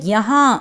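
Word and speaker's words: यहाँ: ஸோ ஹிந்தியில் யஹா அப்படின்னு ப்ரொனவுன்ஸ் பண்ணணும்.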